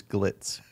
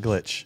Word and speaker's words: glitz: okay yeah stretch composers Glitz so the Bucky statue that we'll be going to is what three words stretch composers glitch okay okay Glitz GL not glitch here's the thing what